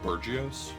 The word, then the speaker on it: bourgeoisie: The mahjong bourgeoisie. Actually, a lot of people don't know this. It's pronounced Burgios. Like I only P-Tank, never saw it right? written out. Like P-Tank. Well, it's like burgeoning. Burgios.